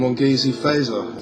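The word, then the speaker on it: Mongezi Feza: laurie allen richard sinclair even either cutler and mongeasey fazer that's how you say his name making appearance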